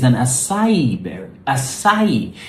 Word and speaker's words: acai: It's an acai berry. Acai. Yeah, you stress the I. Acai, acai, acai. Yeah, maybe that'll help you remember it. Acai, acai, acai berry.